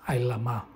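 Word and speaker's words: עלמה: Sabemos que la pronunciación correcta es Ailama, ¿ok?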